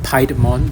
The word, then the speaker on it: Piedmon: So if you pronounce it by the English way, it should be called Piedmon because it's based on Pied Piper. But if you use the Japanese name, it should be Piemon.